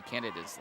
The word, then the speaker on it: Canada: By the way, we were wondering about the pronunciation of Squally Canada's last name, and the public address announcer is also saying Canada, so I think we're correct here.